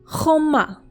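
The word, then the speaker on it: חומה: Let's move on to the next noun, and this is just a little bit more difficult to pronounce because it has that ch sound again.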